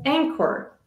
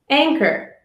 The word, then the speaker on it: anchor: of the silent h h is often silent when following c g k r or W let's look at some examples